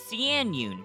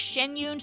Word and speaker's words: Xianyun: P for cloud retainer she pronounces her name as cun but during the character quest shenyun for Simplicity sake we'll go with shenyun since Pon does as well now without any further